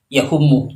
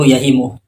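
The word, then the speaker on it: يهم: Kalau kita lihat videonya Wah yang poin pertama, Wah itu kalau kita perhatikan baca kitabnya itu salah karena dia membaca yahumu, padahal yang benar itu yahimu.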